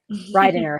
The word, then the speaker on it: Reidinger: Staci Reidinger, you please pronounce it for me. I'm sorry, I Oh, didn't ask. Reidinger, Staci Reidinger. Reidinger.